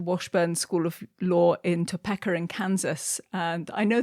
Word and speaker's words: Topeka: of English words, but I think it is Topeka, Kansas.